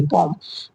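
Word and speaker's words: bomb: जैसे लिखा हुआ है जैसे बी ओ एम बी बॉम बॉम। तो ये एम भी है। इसमें लेकिन एम को क्या है? साइलेंट किया गया है। साइलेंट मतलब उसका प्रोनाउंसिएशन नहीं हुआ है अच्छे से। ओके? तो बॉम्ब पड़ेंगे।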